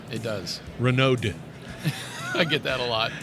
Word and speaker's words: Renaud: You pronounced it great. Did I? Yeah. It has a D in the end. It does. Renaud.